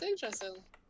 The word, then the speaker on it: Yggdrasil: Yggdrasil. Yeah. It's Yggdrasil. Sweet. I'm glad there's someone that can pronounce that name.